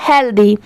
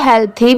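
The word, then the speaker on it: healthy: T planet ये है हेल्दी एच ई ए एल टी एच वाई आप इसे हेल थी भी प्रोनाउंस कर सकते हैं और हेल्दी भी ठीक है यहां पर टी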